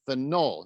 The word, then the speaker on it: phenol: And Phenyl, phenyl, and phenol. You edit the emphasis in the right syllable.